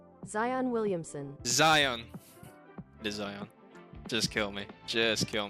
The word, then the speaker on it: Zion: How to pronounce? What? Zion Williamson. Zion. It is Zion.